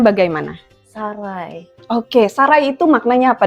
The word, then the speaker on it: sarai: Yang Mbak tahu pengucapannya bagaimana? Sarai.